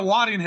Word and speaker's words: Waddingham: Hannah Weddingham. Oh, Hannah Waddingham.